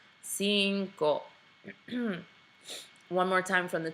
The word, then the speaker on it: cinco: right and lastly here the first C is a soft C the second one is a hard C so Cinco Cinco one more time from